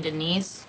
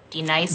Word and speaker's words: Denise: Do you mean Denise? Son of a bitch! You say your name right, right now. Denise? Say it right. Denise. Correctly. Denise. Right. Denise. Right. D-Nice. That's better.